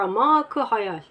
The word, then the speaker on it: Amak-ı Hayal: Amaka Hayal, yani hayalin derinlikleri, Arapça telaffuzuyla Amaka Hayal.